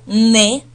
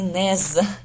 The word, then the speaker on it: nez: И вообще, сочетание «ez» всегда на конце слова читается как «э», да? То есть запомните это правило чтения еще. «Ez» – это «э», «не», поэтому здесь «le ne».